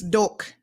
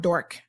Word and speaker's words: Doak: And if you're doing anything, I always mispronouncing her name, it's Doak, not Dork.